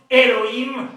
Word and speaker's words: Elohim: Dans les systèmes masorétiques, Alhim se prononce Elohim, l'histoire des transformations, l'origine